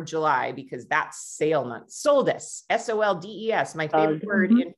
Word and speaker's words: soldes: Soldes, S-O-L-D-E-S, my favorite word in French. And I'm not pronouncing it right, but I love it because they progressively discount everything throughout the month.